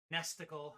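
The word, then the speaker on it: NESticle: it's theism SNES 9x nestical which rhymes with testicle and Genesis I remember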